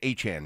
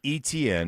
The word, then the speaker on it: Etienne: I guess it's Etienne now, huh?